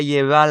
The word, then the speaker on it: llevar: And he pronounced the double L like a y sound. So he went, me la voy a llevar la toa pa un VIP.